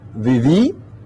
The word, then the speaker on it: viví: So in the first person singular, viví, I con accento, the I with the accent mark, viviste, vivió, con accento, vivió.